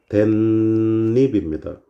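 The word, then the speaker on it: 댓잎: 이거 발음 어떻게 됩니까? 댄잎입니다. 자, 없었던 니은이 뿅 생겨났어요.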